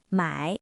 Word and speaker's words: 买: 的例子，买和卖，拼音一样，都是卖，但声调不同，意思完全相反。